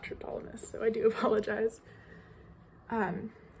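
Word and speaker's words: Triptolemus: in class today that I was pronouncing his name as triptylineus and not tryptolumus so I do apologize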